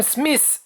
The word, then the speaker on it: Smith: rue Billy the Kid ça se prononce SMI enfin pas exactement parce qu'il faut sortir la langue entre ce n'est pas facile à expliquer bref prononcez-le comme vous voulez madwolf courut aussi vite